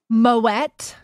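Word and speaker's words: Moët: a lot of times the friends you don't pronounce teas right I was told that's the only time really they pronounce it t Moet yes it's crazy I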